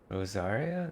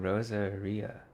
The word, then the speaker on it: Rosaria: Choir practice is about to Rosaria. That's how you say her name. I've been saying Rosaria.